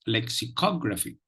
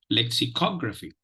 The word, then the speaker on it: lexicography: have tried out your pronunciation listen to the pronunciation of this word it is lexicography lexicography lexicography lexicography now let us look at the let